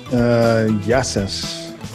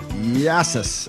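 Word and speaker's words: Γειά σας: Yassas. Yassas.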